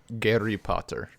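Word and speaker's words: Гарри Поттер: In Russian, it is pronounced Gary Potter.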